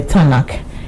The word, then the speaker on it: Tanakh: But for pronunciation purpose, we include a small a so that you can pronounce it. So instead of TNK, we call it the Canon, and the Tanakh.